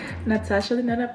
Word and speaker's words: Natasha Denona: I have this Natasha Denona, finally say it correctly, Natasha Denona palette.